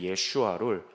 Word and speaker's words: 예슈아: 근데 이제 헬라어로 넘어가면서 예슈아 부분에 슈아 그 발음을 잘 못했기 때문에 예수 이렇게 부르게 됐습니다. 그리고 이제 헬라어에는 항상 뒤에 s자가 잘 보통 붙기 때문에서 예수스라고 불러서 지저스 이렇게 되죠.